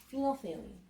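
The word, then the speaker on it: phenolphthalein: is how it's spelled isn't that a great word phenol thaline what's special about pheno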